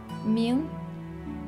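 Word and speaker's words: 明: It's pronounced Ming.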